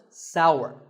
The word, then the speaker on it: sour: what about this taste it's pronounced sour some people say s that is a mispronunciation the only correct way to say this word is sour many words in the